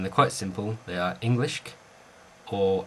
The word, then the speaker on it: Englisc: Now one thing you've got to remember is it's never English. It's never pronounced English. It's Englischk or Anglischk. It's not an I sound, it's an E sound.